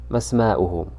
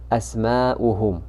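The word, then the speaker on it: أسماؤهم: And firstly, you remember when we have Hamzatul Wasl that's preceded by a word, we don't pronounce it. But in this case, it's not Hamzatul Wasl because it has this Hamza on top.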